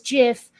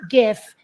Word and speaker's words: GIF: feature not a bug you're supposed to pronounce it like the peanut butter on purpose it is Jif not gif adjust okay uh and